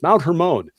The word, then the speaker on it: Hermon: Hermon actually I had to look up the pronunciations Mount Hermon and uh they committed this sin which they